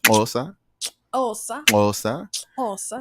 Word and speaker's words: Xhosa: Xhosa, it's how it's pronounced. Xhosa.